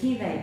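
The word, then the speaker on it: Rivail: Hipolit Leon Denis Rivaí. É isso, né? Isso. Rivaí. Isso mesmo.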